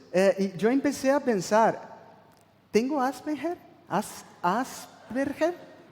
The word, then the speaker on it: Asperger: de asperger es así que se pronuncia la pronunciación asperger asperger a un tipo de autismo y una de